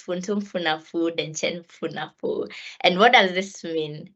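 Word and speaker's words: Funtunfunefu Denkyemfunefu: Yeah, so it's Funtum Funafu Denchen Funafu.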